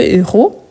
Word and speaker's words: héros: film je vous rappelle héros c'est un hche aspiré on ne peut pas faire ni élision ni liaison donc le héros le verbe mourit à la fin du film donc ici héros on ne fait pas de liaison si vous connaissez pas